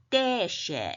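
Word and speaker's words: דֶּשֶׁא: 된 소리로 발음하면 좋습니다 그리고 점 세 개는 애 모이죠 그래서 때 때라고 되겠죠 떼 쉐인데 액센트가 데쉐 이렇게 되겠습니다 이거는 풀이에요 풀은 풀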